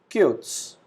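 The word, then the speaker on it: kurz: long long short cutes alphabet z is pronounced as s so we pronounce it cutes happy glocklish in this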